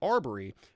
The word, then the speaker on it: Arbery: So it's actually Arbery, but he's saying, he obviously got the name wrong.